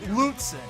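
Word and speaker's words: Lutsen: It's pronounced Lutzen.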